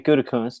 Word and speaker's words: Gutekunst: And now you have Brian Gutekunst.